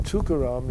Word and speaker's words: Tukaram: And the thing about the name Tukaram is, if you break it up, which nobody does, but it's 3 syllables. Tu-ka-ram.